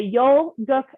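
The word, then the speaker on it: Yul-Gok: with a strong position you're going to say yo gok ma'am for those of you who want a little bit of help pronouncing it it's spelled y-u-l yol and guck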